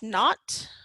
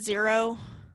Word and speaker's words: naught: that is again by this little zero right there pronounce not okay some people call it zero okay but typically that's